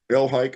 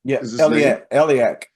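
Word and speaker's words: Elhaik: by the name of Iran elik I think is elak elak okay all right well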